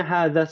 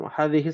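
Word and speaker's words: هذه: Ada yang bacanya hadza sayyaras khata ya, Hadhihi.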